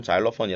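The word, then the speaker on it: xylophone: 있는 넣어 보 어 실로폰 이라고 입으면 은 지금 죄송 c 거 잘 없군 이라고 그런거를 보다 라드 뜻이 실로 번이라 그러면은 못 알아들어요 우리나라 끼가 아니잖아요 사용 아끼기 때문에 아 정확한 발음 잘 어 퍼니 라고 얘기를 해줘야 돼요 잘 오펀 5 그래도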